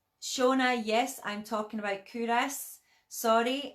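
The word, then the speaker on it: Culross: but and that's why when we read it it looks like cool Ross and but the people of faith will give you a hard time if you say that so always call it kudos and and as you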